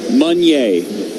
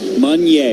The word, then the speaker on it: Meunier: Run day or sun play? Not Sunday, but sun play. Sun play or run day.